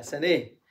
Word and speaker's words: سناه: حديث البخاري، فقال لهم: سناه سناه سناه، هكذا ينطقونها بالإمالة، سنيه سنيه يعني حسن، سني.